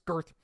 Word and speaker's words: Garth: Um, by the way, I believe that is how you are to pronounce it. It's not Garth, it's Gerth.